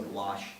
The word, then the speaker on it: gouache: Yeah, it does sound a bit like squash. Actually, it sounds exactly like squash, except it's spelled with a CH instead of an SH at the end.